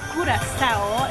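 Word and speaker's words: Curaçao: Yeah, we're here in La Curacao. Yes, that's the way you pronounce it. Curacao.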